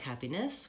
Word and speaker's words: happiness: say it more like happiness with a little bit of an elo there but happiness it's a reduced vowel in that last syllable so um and then